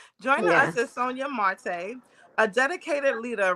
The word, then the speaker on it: Sonia Marte: Joining us is Sonia Marty. Is that pronounced properly? Sonia Marte. Oh, Sonia Marte. All right. Joining us is Sonia Marte, a dedicated leader right here in Udica.